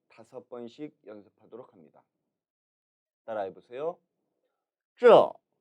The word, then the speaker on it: 这: 这, 这. 이 발음은 혼설음 쯔의 모음 어를 사성으로 발음한 것입니다.